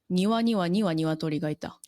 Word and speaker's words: 庭には鶏がいた: 庭には鶏がいた.